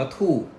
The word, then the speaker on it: 兔: นี้ เป็น ปี กระต่าย กระต่าย ใน ภาษา จีน ออก เสียง ว่า ธูป อักษร ธูป มัก ทำ